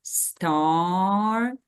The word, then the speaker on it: started: So that's why in this case, we pronounce it as started.